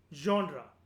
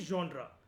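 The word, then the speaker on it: genre: जॉनरा, इसकी pronunciation होती है जॉनरा।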